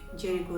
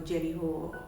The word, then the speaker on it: Jericho: little bit to the jericho region or jerry ho their different ways of pronouncing it but this region is